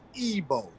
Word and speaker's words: Igbo: the i in ebo is a e sound it's like it gives off a e sound so when you see the word it'll throw you off because it begins with a a but that I has a e sounding so it's ebo EO ebo yeah so colonizers Twisted